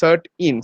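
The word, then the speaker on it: CERT-In: indian computer response emergency response team but it's pronounced as cert in c e r t n uh if you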